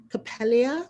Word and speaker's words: Coppélia: a little bit about how you chose Coppélia?